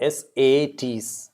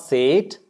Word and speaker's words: sat: Like A, you know, S-A-T is not sate, it's sat, a.